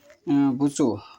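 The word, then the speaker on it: وضوء: বুজু হচ্ছে সঠিক উচ্চারণ। আর অসংখ্য মাযহাব ভিত্তিক লোক আছে, তারা বলে থাকবে বুধু।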